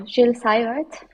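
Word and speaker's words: Gilles Seywert: How do you pronounce his name from Luxembourg? Oh, Jill Sart.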